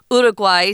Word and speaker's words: Uruguay: So, this sun god smiles upon the people as they look upon the flag in Uruguay or if you want to say the Spanish pronunciation is Uruguay. So, it's very different.